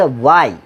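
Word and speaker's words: why: অর্থাৎ যেটার আমরা হ বলতাম, হোয়াই বলতাম, মূলত উচ্চারণটা হোয়াই না, মূলত উচ্চারণটা হচ্ছে ওয়াই। মূলত উচ্চারণটা হোয়াট না, এটা হচ্ছে হোয়াট। এটা হোয়েন না, এটা ওয়েন। এটা হোয়ার না, এটা ওয়ার। এটা হোয়াই না, এটা ওয়াই। কিন্তু এটা হ, এটা হ,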